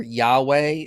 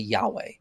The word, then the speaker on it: Yahweh: place to go but I think the most likely pronunciation is gonna be Yahweh and let's see apostate